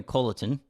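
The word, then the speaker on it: Colliton: How do you pronounce his name? Jeremy Colleton.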